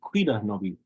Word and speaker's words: Cuidanovi: I know oftentimes people like, you might hear them say cuidanovi, but technically the pronunciation, you put the stress over the da.